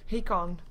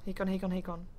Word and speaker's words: Hakon: And that is indeed how you pronounce that. Hakon. Hakon.